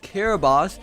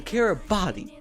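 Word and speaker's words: Kiribati: I know it's pronounced Carabos, but it. I'm not going to pronounce their name correctly because they decided they wanted to ruin the international date line. So, I'm going to call them Caribbody.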